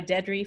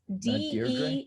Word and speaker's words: Deidrey: Pray by Deidrey Francois. And she Deidrey? has Deirdre? No, it's Deidrey, I believe, and okay.